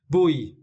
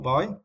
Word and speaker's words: buoy: by just clinging to a buoy or a boy. Clinging to a boy, or you can pronounce this word as a buoy.